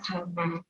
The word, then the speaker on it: gamma: Itu bukan Y ya, bacanya gamma.